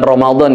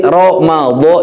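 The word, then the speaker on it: رمضان: Ramadan juga, makanya itu tadi yang istilah kita harus mengerti, Ramadan itu pakai dod. Jangan sampai kita kadang kalau di Latin pakai D ya, harusnya pakai DH atau DL untuk menyatakan dod, ejaannya. Tapi kalau Ramadan atau Romadiyun itu artinya al-umyu.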